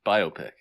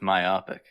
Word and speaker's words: biopic: for this biopic it's biopic biopic definitely not biopic it's definitely by which i i posit which one is more fun to say biopic that's right so ergo rhymes rhymes with myopic don't don't insult me